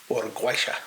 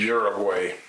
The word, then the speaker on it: Uruguay: Uruguaysha. Oh, I wasn't even close. No, Uruguay is how you say it in English. Uruguay.